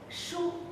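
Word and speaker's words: 书: So the shu is shu. This character is pronounced shu in Mandarin.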